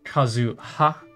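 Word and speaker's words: 万葉: is the the kanji for leaf so it's pronounced Kazu ha not Kazu so kazua and you'll see that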